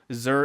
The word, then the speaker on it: Xur: Zur is spelled X-U-R.